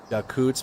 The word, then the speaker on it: Yakutsk: It's pronounced Yakutsk. My friend here in Alaska is from there, and her entire family is from Russia. She's very heartbroken. It's pronounced Yakutsk. Yakutsk is how you pronounce it.